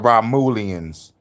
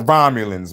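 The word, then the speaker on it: Romulans: said Ramoleians. This is how you know a using AI. I'm like, man, just come on, man. You could read from the script and say it yourself. Talk about Ramulians. It's the Romulons man.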